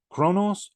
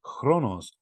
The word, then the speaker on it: Chronos: that is kind of rendered in English with the CH even though we don't pronounce it as a fricative uh in ancient Greek it would have sounded like that so but it's Chronos Chronos and that lent itself